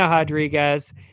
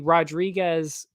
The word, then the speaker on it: Rodriguez: That would be the other Rodriguez in this case, Marina Rodriguez. And well, it's actually Rodriguez is D-Rod, which makes sense because he's American. Marina Rodriguez is Brazilian, so you pronounce it differently.